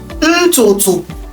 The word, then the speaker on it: ntutu: You remember our T-O-T-O. It's pronounced T-O-T-O. Ntutu. So if I try to spell hair in Igbo, you're going to say T-O-T-O.